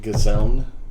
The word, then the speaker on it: Gesellen: there twice uh well the official pronunciation has an n at the end of it uh so it's like gazellen question so okay uh